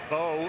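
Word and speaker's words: Beaux: Doug Bowe. It's spelled B. Oh, we're going to go B-E-A-U-X. Under serious consideration right now. The Bede's going today, too. Just makes sense. Bowe Bedes.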